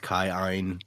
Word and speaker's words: Elantris: Was it Keen? We said it Keen. Technically, it's pronounced Kai-Ein, but yeah, the weird pronunciation of Elantris.